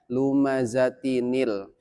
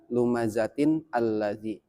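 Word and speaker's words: لُمَزَةٍ ٱلَّذِى: Jadi cara bacanya lumazatinil bukan lumazatin alladzi.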